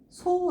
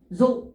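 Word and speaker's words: 増: 증 자 저할 증자 음독 잘 보셔야 돼요 소 아니에요 소 소 소 조 타급 넣어서 읽어주면 돼요 조 조 이렇게 읽어주면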